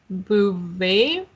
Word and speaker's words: Beauvais: See, Beauvais.